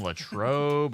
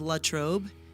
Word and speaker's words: Latrobe: it right really yeah everybody that's not from Latrobe says LA trobe and it's Latrobe Latrobe all right foreign yeah